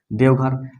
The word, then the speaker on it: देवघर: देव जोड़ घर ऐसे बोलेंगे, उच्चारण ये गलत हो जाएगा। देवघर, देखिए देव, देव मतलब देवता, इसका अर्थ निकल गया।